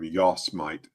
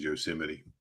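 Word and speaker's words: Yosemite: I was a kid, I used to call him Yosmite. I didn't know it was Yoseim. Nobody told me how to say it correctly.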